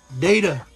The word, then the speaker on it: Data: Data, right?